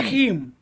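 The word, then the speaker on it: המלכים: Hamlakim. Hamelakim. Hamlachim.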